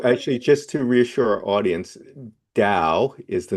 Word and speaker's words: Tao: So So actually just to reassure audience Dao is the name of the tradition and when you see it spelled t a o, you're still supposed to pronounce it with a d sound.